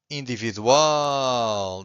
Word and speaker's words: individual: Universal or individual. This one also ends with an L, so we stress the final syllable.